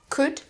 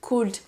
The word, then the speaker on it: could: Should, could, would. Vous voyez que je n'ai jamais prononcé le L, quel que soit le modal. On ne dit pas should, could et would, mais bien should, could, would.